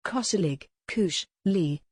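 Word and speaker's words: koselig: the netflix series emily in paris in october cosselig lee a norwegian concept which has become a lifestyle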